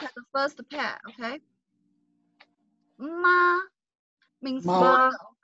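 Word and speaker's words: 马: Ma means mother, right? And if we say in the third tone, we say ma, which is horse.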